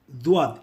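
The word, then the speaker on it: ض: துவாத் ஆனது ஒரு கடின எழுத்து, அதாவது இது ஒரு ஹார்ட் லெட்டர். உங்களுக்கே தெரியும், கடின எழுத்தை உச்சரிக்கும் பொழுது சிறிது தொண்டையின் குரலை உபயோகித்து உச்சரித்தால்தான் ஒலிப்பு ஒலிகள் வாய்க்கு உள்ளாரே ஒலிக்கும்.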